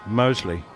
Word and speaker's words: Moseley: The Birmingham suburb, Moseley. Moseley, right. Just checking. But that's only because I'm a... It is Moseley, but I would just...